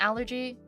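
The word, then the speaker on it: 알레르기: if you have an allergy it's lowkey just allergy in Korean but it's pronounced Aller so it's just like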